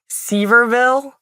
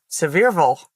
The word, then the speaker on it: Sevierville: It looks like Seaverville outside of Pigeon Forge. And then you show up and everyone's like, Sevierville.